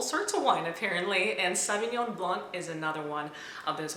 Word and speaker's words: Sauvignon Blanc: so the French pronounces Sauvignon Blanc they actually leave out the K or the C at the end and in this particular